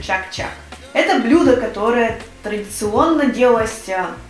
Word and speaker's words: чак-чак: У татар оно называется чак-чак. Хотя я думаю, у татар-то оно называется по-другому, но на русском языке это произносится чак-чак.